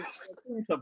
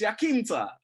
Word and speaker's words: Iaquinta: But these American retards call it fucking Iaquinta, bruv. It's like, who the fuck is an Iaquinta, bruv? Do you know what I mean? What the fuck is an Iaquinta, bruv? It's Iaquinta.